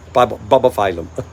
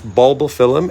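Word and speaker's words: Bulbophyllum: bubble phylum you know some people say like I used to say bubba Fallen Bubba phylum right but it's not it's bulbal film and see how they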